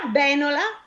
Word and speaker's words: benola: E allora benola, sempre ancora? Sulla E, aperta, Sì, sdrucciola. brava.